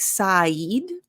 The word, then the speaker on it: said: Now, said, it looks like Said, but it's actually said.